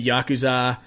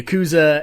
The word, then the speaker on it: Yakuza: stuff is happening but then you know the Yakuza I said it wrong again the Yakuza and the mob are like watching keep going